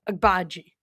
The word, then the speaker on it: Agbaji: You just say it fast. Agbaji.